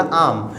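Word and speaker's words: I'm: मैं बात कर रहा हूँ, आम टॉकिंग, नॉट आई एम या फिर आई एम नहीं, आम टॉकिंग, वेल आई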